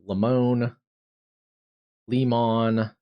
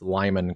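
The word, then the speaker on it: Limon: streams, Cruise, but I I believe it's Lyman, but I've also heard it pronounced Leone Lemon, but I I don't think that's correct.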